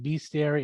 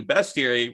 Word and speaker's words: bestiary: it's okay um and it's bestiary everyone's like be scary it's actually best bestiary it's french so if you ever want to know how to pronounce that correctly if if you the